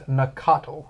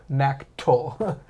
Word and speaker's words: Nacatl: How do you just delete an A in the middle that goes Nacatl, not Nactyl? There's just an A that you just didn't say.